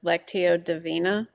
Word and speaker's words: Lectio Divina: I'm probably going to mispronounce this. Lectio Divina.